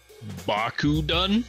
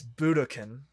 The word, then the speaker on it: Budokan: I might mispronounce the hell out of it, though. Okay. Bakudun? Yeah, you've mispronounced the fuck out of it. Yeah. It's Budokan. Budokan.